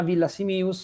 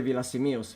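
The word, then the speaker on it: Villasimius: fatto quasi 20 anni di ferie in zona Villa Simius, e quindi qualche cosa di sardo conosco, e quindi Cugurra mi ricordo che era uno che poteva portare male, non portare iella.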